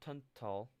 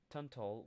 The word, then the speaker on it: Tunstall: newly arrived Englishman, John Tunstall. No, the S is silent. I feel like the S would be silent.